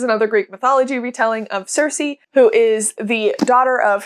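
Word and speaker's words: Circe: I've heard people pronounce Cersei differently in many different ways, so I'm gonna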